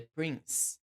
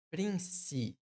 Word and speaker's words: prince: Príncipe em inglês, a gente não fala prince. Não é prince, mas prince. Prince. É como se terminasse com S.